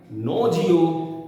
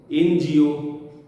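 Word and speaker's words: NGO: এনজিও, এনআরআই। অতএব এনের যে অরিজিনাল সাউন্ডটা ন, যে নেজাল কনসোনেন্টের যে প্রসেসটা, সেই ন কিন্তু এখানে আর খুঁজে পাওয়া যাচ্ছে না। এখানে এনের উচ্চারণে আগে এ চলে আসছে।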